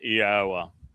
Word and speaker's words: Yahowah: All one has to do is look at the verbal basis of the name. God gave us the verbal basis. He told Moshe his name was based upon haya. That tells you how to pronounce three of the four letters. Haya.